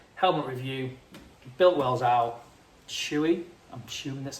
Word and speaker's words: Shoei: Built wells out Chewy.